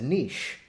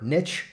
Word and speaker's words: niche: you around the world you refer to it as a niche and you're welcome to say it that way it's your right to say it that way however niche rhymes with rich and that's why we